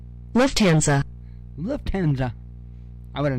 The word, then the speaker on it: Lufthansa: say hell no bro let's move on pronunciation oh yeah here we go ready Lufthansa huh Lufthansa Lufthansa left hand I would have never got that